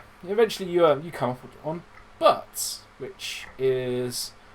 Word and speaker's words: Buttes: But notably, Butts is spelt Buttes, so you assume it's someone's surname.